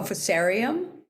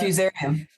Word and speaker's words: Fusarium: was reading blight called fuserium. I think it's fuserium. Oh, fusarium. Fusarium. Okay. Sorry, I'm not pronouncing it right.